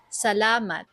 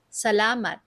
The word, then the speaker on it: salamat: Let's slow it down for pronunciation practice. Salat. Salat.